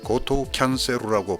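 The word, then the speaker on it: ゴートゥーキャンセル: 우리야 이것을 별 어려움 없이 발음하지만 일본 사람들은 이것을 고토 캔세루라고 발음합니다. 일본엔 투라는 발음이 없습니다. 그래서 일본 사람들은 토에서 우를 약간 길게 발음하여 투처럼 들리게 발음합니다.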